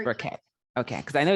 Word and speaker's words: Burkett: Burkett, pronounced Burkett.